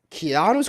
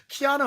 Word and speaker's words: Keanu: Mufasa thank God right Kiana's going to have three bill Neo Mr weak see no see you said that wrong you said it wrong Keanu has three Neo Mr